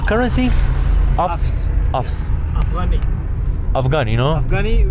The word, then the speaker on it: Afghani: Afghani, we call inside Afghanistan, we call Afghani. Afghani. But if you pronounce it in English, that's Afs.